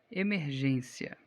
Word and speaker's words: emergência: Emergência. Emergência é proparoxítona. Não. Emergência é paroxítona terminada em ditongo crescente. Então, ela tem a penúltima sílaba acentuada.